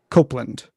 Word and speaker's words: Copland: He says Copland can be pronounced as if with an E, as in the Apple company project Copeland.